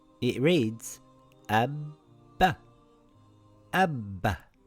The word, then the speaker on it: أَبَّ: Lets look through some examples, أَبَّThis is the same as this أَبْ بَ The first ba has a sukoon and the second ba has a fatha. It reads Abba Abba.